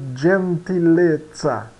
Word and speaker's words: gentilezza: O G, ele soa como um DG, né? John, da palavra gentleman. Por exemplo, na palavra gentileza, nós pronunciamos gentilezza. Gentilezza.